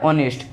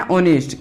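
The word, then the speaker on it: honest: मतलब ईमानदार होता है लिखा जाता है एच ओ एन एस टी लेकिन इसको बोला जाता है ऑनेस्ट ये साइलेंट वास कुछ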